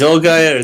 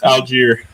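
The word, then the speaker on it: Allgeier: Finally, someone pronounces something wrong because it's not an English soccer player. It's an American football player. Tell me, John. Algier.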